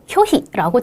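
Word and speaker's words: 拒否: 자, 저 한자 어떻게 읽어야 될까요? 네, 효희라고 짧게 읽으셔야 되겠죠.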